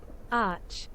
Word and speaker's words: arch: I'm never really sure how to read ARC. This pronunciation. Let me just Google this really quick. Arch. Okay, Google tells me it's arch.